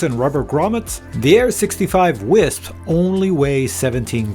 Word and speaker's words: Wisp: I call it the Wisp because it's spelled W I SP.